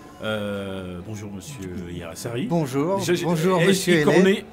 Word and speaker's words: Hiairrassary: Ai-je écorné Non, votre... pas du tout. Je pense que vous êtes assez bon dans la prononciation des noms compliqués. Ah, d'accord. Hirassari, alors, c'est basque.